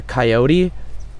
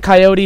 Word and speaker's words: coyote: Oh, it's a coyote. Some people say coyote, some people say coyote. Comment below, how do you say it? Do you say coyote or coyote?